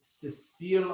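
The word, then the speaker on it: sessile: one is produced oak one is cecile oak or cecil oak depending on how you want to pronounce it so there's different growing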